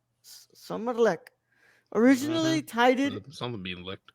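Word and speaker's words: Sommarlek: um summer interlude or how it is pronounced in Swedish Aiden well summer lick summer luck originally titled someone being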